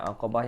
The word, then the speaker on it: Aqabah: One ke boleh Safika Az Hai Nah jadi bacanya aqabah Yang pertama mau ini jadi ada enam isi